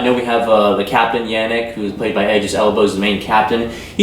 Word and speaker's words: Janek: His character's name is Yannick, if I'm not mistaken, though it's spelled Janek.